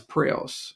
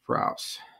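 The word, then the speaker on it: Praos: said oh well that's prios or boris props depends on who you ask how to pronounce that and we said well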